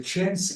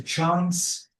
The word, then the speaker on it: chance: If I want to say chance, the chance is American accent, but the chance is a British one.